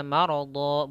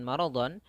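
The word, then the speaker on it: مرضا: Kemudian kenapa dibaca maradha bukan maradhon? Apabila kita dapati ada tanwin bertemu dengan alif pada akhir bacaan atau kita berhenti pada huruf-huruf tersebut, yaitu adanya alif sebelumnya adalah huruf yang berharakat fathatain, maka ini hukum bacaannya adalah mad iwad, yaitu kita iwadkan, kita ganti doanya dengan maradhon, tanwinnya diganti dengan fathah saja yang menjadi panjang. Maradha, maradha.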